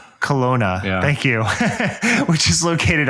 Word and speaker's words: Kelowna: homeland is infested with douchey bros up in kelawana am i pronouncing that right matthew it's kelowna kelowna thank you which is located obviously in canada